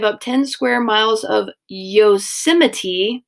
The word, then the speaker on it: Yosemite: In 1864, Congress is going to give up 10 square miles of Yosemite, that's how you pronounce it, out in California, and it's going to become a national park.